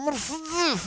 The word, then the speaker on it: Mercedes: делают все апологеты марки они не произносят гласные они говорят так вот с пренебрежение и понятно что это очень круто там Месс у меня в натуре и